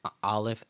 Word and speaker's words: aleph: That's how we will review the aleph and the ayin as silent letters. Those are the two silent letters in the Hebrew alphabet, aleph and ayin.